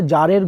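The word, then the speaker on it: tsar: বলছে এই গল্পটা একটা জারের গল্প। THAR উচ্চারণ কী হবে? জার, ওকে, মানে কিং।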